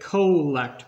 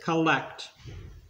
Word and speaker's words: collect: A lot of people say collect, but because of those two L's, you pronounce it collect.